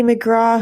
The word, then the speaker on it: McGrath: Oh, her last name is spelled McGrath. Oh, McGrath. Yeah. Okay, McGrath. She's Irish, so of course you can't pronounce it the way it looks.